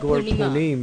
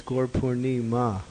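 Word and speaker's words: Gaura Purnima: It's not Gorpunim, it's Gorpurnima.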